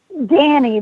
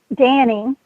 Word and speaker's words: Danis: damn yeah to ask Danny the the S is silent it's spelled EI n is Danny and he is from